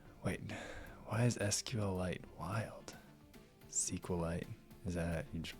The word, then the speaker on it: SQLite: And then we expose an interface so that you can like set up your own and use something like SQLite or like Redis or something, which would probably make more sense.